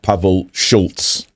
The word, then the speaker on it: Pavel Šulc: So today we're going to be talking about Pavel Šulc.